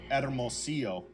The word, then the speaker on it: Hermosillo: And I said Hermosillo, Mexico, but the way that it's pronounced is Hermosillo, Mexico, which is in the state of Sonora, which is right below Arizona, below Arizona.